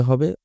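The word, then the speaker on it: ح: টান কোন নোক্তা নেই হা উচ্চারণ করার সময় একটু কন্ঠনালীর মধ্যভাগের সাহায্য নিয়ে একটু প্রেশার দিয়ে উচ্চারণ করতে হবে।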